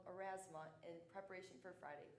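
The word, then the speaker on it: Aurasma: Finally, for those of you who did order one, you will want to download the app called Erasma in preparation for Friday, correct? Erasma is spelled A-U-R-A-S-M-A, in case you're wondering.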